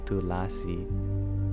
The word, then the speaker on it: tulasi: through bti redhead rage you're wondering how to spell it well the authentic Sanskrit transliteration would be tulasi t u l a s i but in